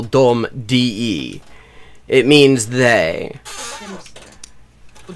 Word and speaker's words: de: It is not pronounced de. It is pronounced dom.